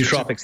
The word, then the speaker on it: nootropics: And also nootropics, yeah. Yeah. Nootropics, is that how you pronounce it?